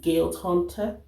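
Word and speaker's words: Guild Hunter: so i started reading guilt hunter that's how she pronounces guide hunter and um the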